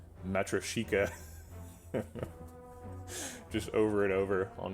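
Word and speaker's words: Матрёшка: I practiced it. Matryoshka. Matryoshka. Matryoshka. It sounds way more Russian, Matryoshka, than Matryoshka, which is what I was saying before.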